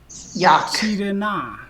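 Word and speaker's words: יַקְטִירֶנָּה: Ya ketire na. Ya ketire na. So let's Yak make tirena. right. Let's make the first syllable closed. Yak. Ya Yak. tirena.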